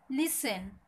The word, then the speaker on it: listen: লিসেন, LISTEN, টি এর উচ্চারণ হবে না, লিসেন মানে শোনা।